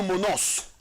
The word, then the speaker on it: monos: In fact Hebrew kasa alone no ye pronounce no monos.